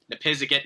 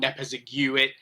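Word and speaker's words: Nepisiguit: I know I mispronounced it in the original video, but yeah, the correct pronunciation is Nepiziget, not Nepiziguit.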